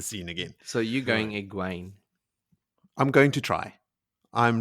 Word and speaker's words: Egwene: Look, back to the point that I was trying to make before we pulled apart my correct pronunciation of Egwene.